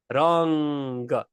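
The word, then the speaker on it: રંગ: It's this weird little sound in the back of your mouth. Rang, ng. It's this ng sound. So when we have a g after the mindu, it is pronounced ng, palang, rang.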